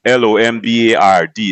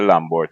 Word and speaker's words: Lombard: Most people would know it as it actually is spelled L O M B A R D is Lombard but people just say Lambert.